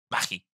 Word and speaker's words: Mahi: Y se pronuncia... Maggie.